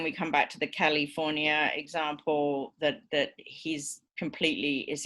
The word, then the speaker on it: California: So as long as Arnie says California, right, so the primary stress on the word is correct, the lack of the schwa in California is not going to cause the intelligibility problem.